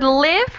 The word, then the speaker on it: live: my father owns excellent but with the word live we have a shorter sound it's it live in